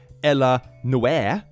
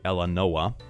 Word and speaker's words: Ella Noe: Then we have Ella Noe. That's actually how it's pronounced. It's not like Ella Noah or Eleanor or whatever this is supposed to be.